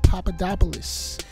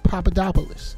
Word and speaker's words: Papadopoulos: but not least George papadopolis I don't know why everybody's having such a hard time pronouncing his name it's Papadopoulos okay now he also